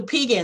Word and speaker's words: Pegan: I don't know how to pronounce it, P-E-G-A-N. Yes, so Pegans, Native Pegans are a band of Americans.